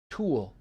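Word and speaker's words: tulle: Pronounced tooling. T U L L E. Tool.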